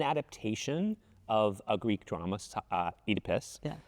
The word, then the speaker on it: Oedipus: It is an adaptation of a Greek drama, Oedipus. Yeah. We're going to use that pronunciation because this production from London uses Oedipus, and so it's a little bit different than maybe the way Americans have said it.